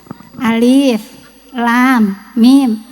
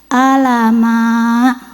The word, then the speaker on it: Alif Lam Mim: itu tulisannya Seperti apa Alif lam mim di atasnya ada tanda alis betul betul bacanya kan Alif Lam Mim ya karena ini baru belajar dibacanya apa alamak gitu ya Allah ya salah tapi tetap